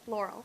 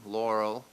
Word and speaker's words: Laurel: My name is Laurel. It rhymes with snorrel.